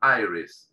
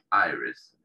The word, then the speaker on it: iris: parte del ojo transparente se escribe igual en español e inglés pero en la iglesia pronuncia aires si la del comienzo se pronuncia como ah y aires que parte del ojo